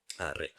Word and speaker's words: Ra: Bueno, que los crucigramas tienes que poner Ra, pero en realidad se pronunciaría más parecido a rey.